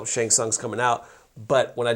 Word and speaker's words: Shang Tsung: And I said, Shang Tsung's coming out. But when I did the video, I pronounced his name Shang Tsung.